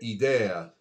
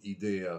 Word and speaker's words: idea: eccoci qui idea da pronunciarsi come io ho sbagliato da pronunciarsi con la è aperta quindi è idea non idea come ho detto io da milanese cosa significa l'idea è